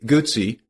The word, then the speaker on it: Guzzi: Today, Guzzi, pronounce it like pizza, is best known for their trademark 90-degree V-twin engine and shaft drive.